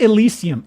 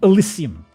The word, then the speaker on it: Elysium: That's not how Elysium is spelt. Behold, Elysium. Not Elysium, Elysium.